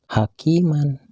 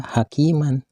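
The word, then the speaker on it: حكيما: sekali dijumpai seperti kalimat hakiman kalimat hakiman ini bila di hentikan membacanya tidak boleh dibaca hakiman akan tetapi harus dibaca hakima Dibaca panjang satu Alif atau dua harkat begitu pula kalimat Aliman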